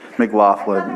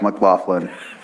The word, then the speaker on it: McLaughlin: little different and my last name is McLaughlin m c l a u g h l i n and it's easy to remember because it's got the word laugh right do you pronounce it thank you it's McLaughlin make make laugh McLaughlin McLaughlin yeah yes McLaughlin